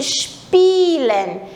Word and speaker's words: spielen: A pronúncia, o SP, ele fica bem juntinho, spielen. I-E é um I longo.